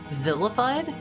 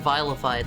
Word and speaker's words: vilified: Said like villain. Vilified. How was I saying it? I I I was saying vileified like the word vile, right?